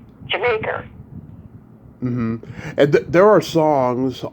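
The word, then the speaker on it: D'yer Mak'er: And we all when I was growing up, we'd all say Dire Maker, but apparently the way they intended the pronunciation to be was Jamaica.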